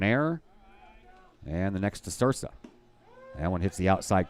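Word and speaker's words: Ysursa: Had so many technical difficulties I didn't have time to ask for pronunciations, but he spells his name Y-S-U-R-S-A, so I'm guessing the Y is silent, and I'm going with Sursa.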